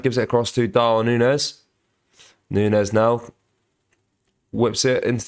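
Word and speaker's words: Núñez: to play here guys hate to be that guy but it's pronounced Darwin Nunez Nunez sorry I do apologize Nunes ball comes in from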